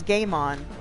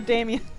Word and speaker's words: Damien: I read it as Game On. Oh, Dame, yeah. Is it a Damien? Damien, okay. That was my writing.